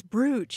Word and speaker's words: brooch: me because i think growing up i said brooch and then somebody said no no no it's bruce it's bruce and so you know